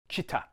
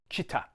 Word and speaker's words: Chita: Now, there's a tendency to lengthen the I and say Chita, but you want to keep them the same length. Chita.